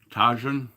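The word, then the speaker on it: Tajín: J is pronounced as H. Oh, Tajin.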